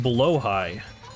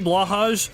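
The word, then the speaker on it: Blåhaj: just having some other kind of mode it's pronounced blo High interesting okay yeah I I i' I know a lot of people say blahaj but then I remember hearing that that was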